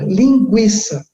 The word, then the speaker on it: linguiça: em cima do o sempre que o UFO pronunciado então por exemplo antes a palavra linguiça polpa isto a palavra linguiça e a palavra